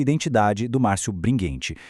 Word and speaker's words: Bringhenti: e Identidade do Márcio Bringuente. E um detalhe rápido, a pronúncia é bringuente, tá? Com som de guê.